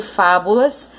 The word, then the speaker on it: fábulas: Então, a mais forte de fábulas é a antepenúltima sílaba.